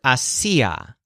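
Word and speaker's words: hacía: what I can see the stress syllable si goes with the word hacia which is the imperfect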